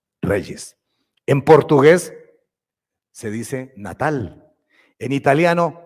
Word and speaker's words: Natale: En portugués se dice Natal, en italiano Natale. Pues pronuncien conmigo, espero que tengan el italiano listo. Natale, repitan conmigo, Natale. Eso, estamos en Italia, Natale.